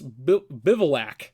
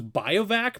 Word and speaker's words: Bivouac: Then we're playing 4 Restless Bivouac. I had to look up how to say this. Bivouac. I always thought it was Biovac, but it's Bivouac. Bivouac.